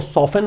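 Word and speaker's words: soften: इसको सॉफन बोलते हैं, टी म्यूट है इसमें, टी का उच्चारण नहीं होता है, सॉफन, थोड़ा कम कर दिया इस नुकसान को।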